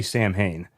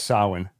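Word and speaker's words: Samhain: Before anybody complains, he mispronounced it. In the vid the movie they say Sam Hayne. Yeah, we know we we all know it's sin.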